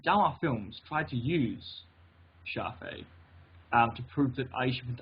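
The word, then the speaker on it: Shafi'i: Because I can't pronounce it. Don't worry about it. Shafi.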